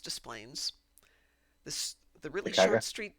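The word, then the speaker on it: Des Plaines: If there's a letter there, we're going to say it. Displayplains is pronounced Displains.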